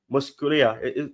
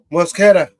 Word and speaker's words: Mosquera: Is it Musculia? Is that the name, Tobago? Mosquera. Mosquera. You see, I butchered the name.